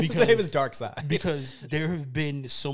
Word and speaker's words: Darkseid: has called this man dark seed shawn being the first yeah there are a lot of people who have actually said that because i always said dark side and people said no dark seeds thank you i've